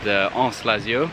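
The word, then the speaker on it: Anse Lazio: Yeah, so we're in Praslin Island now, after an hour's boat, and we've arrived at this beach called Anse-Lazio. Anse-Lazio. How was that pronunciation? Anse-Lazio, very nice.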